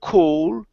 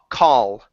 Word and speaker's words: call: So to make the difference between call and cold, open your mouth and pronounce an ah. So instead of cool, ah, call.